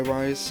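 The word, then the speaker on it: Ryse: Uh, so overall, should you buy Rise on release date? I keep wanting to pronounce it Reese. I know it's Rise, but you know, if I do pronounce it, I know it's Rise.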